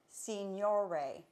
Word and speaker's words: signore: I think it's pronounced signore, and it means sir in Italian.